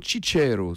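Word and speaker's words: ciciri: demandé aux victimes de prononcer le mot cheat chéreau qui veut dire pois chiches en sicilien mais qui est paraît-il très difficile à prononcer correctement pour un français vous avez ghnassia vous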